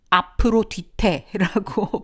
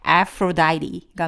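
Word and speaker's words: Aphrodite: 미의 신, 여신, 아프로다이티, 아프로디테라고 부르시기도 하잖아요. 아프로다이티가 맞는 발음이고요.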